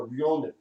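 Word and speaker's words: ronin: samurai was called a ryonin, R-O-N-I-N, but it's got a Japanese pronunciation on it.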